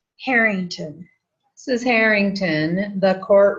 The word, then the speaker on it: Harrington: H A R R I N G T O N. How do you say your last name? Harington.